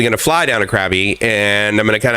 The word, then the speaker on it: Krabi: crabby or krabby um i've actually heard it pronounced krabi you know where basically the eye it's got that one of the five tones that show up in thai so the short answer is i say krabi and everyone else that